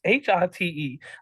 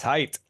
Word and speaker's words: Hite: It's Hite. I wanted to say hit, but I know it's not hit. No, it's just like it's spelled. It's height. It's height. H-I-T-E, height.